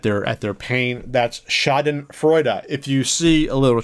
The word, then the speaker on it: Schadenfreude: butcher at the top of the hour here shoden Freud shoden fre how do I pronounce this again tell me Google Shaden Freud shoden Freud I'm part German I should know